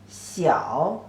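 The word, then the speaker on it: 小: each side means small the pronunciation as c-e-o Seau the third tone c-e-o cro means small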